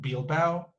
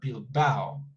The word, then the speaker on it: Bilbao: It's not Bilbao, but Bilbao. And it's 2 syllables, Bilbao, Bilbao. That's how you pronounce it.